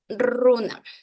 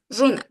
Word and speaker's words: runa: Entonces la gente se resiste en decir runa y le ponen esta fonética castellana, runa. Entonces ahí hay que recalcar. A ver, en quichua la R se pronuncia runa, runa, rumi, ruku.